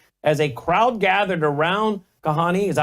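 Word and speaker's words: Kahane: late end quote as a crowd gathered around Kahani is that how you say his name gahani yes in the second floor lecture hall in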